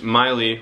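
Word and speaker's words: Maule: jacob miley spelled m-a-u it's miley rhymes with smiley but it's spelled m-a-u-l-e i don't know it's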